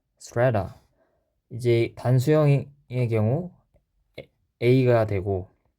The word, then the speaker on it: strata: 네, 발음 기호를 찾아보니 에 발음이 나네요. strata. strata.